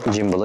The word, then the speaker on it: gimbal: jimble hakkında Bu arada jimble diyorum tuhafıma geliyor bundan bir saat öncesine kadar ben gimal diye okunuyor zannediyordum biraz da açtıktan sonra jimble oku olduğunu fark ettim şu an biraz yabancıyım